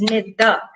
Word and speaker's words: Neda: My name has 2 syllables. It's Neda. So we clap every time we recognize the syllable in the word. Neda has 2.